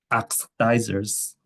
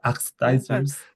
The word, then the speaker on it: oxidizers: So oxidizers. Is it This is a bit tricky. Bit jerky. That's how it's said. Oxidizers. Oxidizers. Uh oxidizers. Oxidi. Oxidizers such as bleaching powders, organic peroxides. Yeah. Yeah. That's really good. That's really good. So, it's got eyes in there.